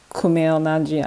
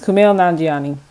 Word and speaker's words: Kumail Nanjiani: um with kumail najin i'm so sorry for mispronouncing that i've i'm actually a big fan of his and i've heard his name so many times kumail nanjiani that's his name um pretty sure that's how you pronounce it but um in that